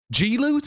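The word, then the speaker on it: G-Loot: well right what was this one called the glute Clash oh gee loot is that how you pronounce it yes man there's a dash people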